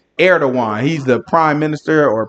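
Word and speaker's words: Erdoğan: He say his name is His name is Erdogan. That's how you say his name. Erdogan.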